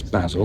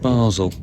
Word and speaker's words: Basel: Yes, it is Basil, not not Basel. Don't know why.